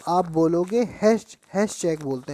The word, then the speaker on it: Hatschek: अगर कोई आपसे क्वेश्चन पूछता है कि निडेरिया शब्द किसने दिया था, तो आप बोलोगे हैश चेक बोलते हैं। हैश चेक क्या बोलते हैं बेटा? हैश चेक। आप लिखना चाहो तो स्पेलिंग लिख लो, HATSCHEK।